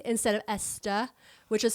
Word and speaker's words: Estée: And as like a a branding marketing thing, she added the little thing above the E and started pronouncing it more as Estee instead of Esta, which is how they would have pronounced it.